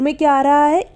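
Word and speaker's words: make: ए हो रहा है और एक और चीज इसमें आखिर में ए ए रहा है लेकिन हम इसका इस्तेमाल नहीं करेंगे यानी की ये नहीं बोला जाएगा हम मेक बोलते हैं मेक के तो नहीं बोल रहे ना तो यहां पर साइलेंट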